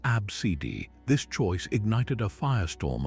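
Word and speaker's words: ABCDE: into a simple sequence of letters pronounced abcidi.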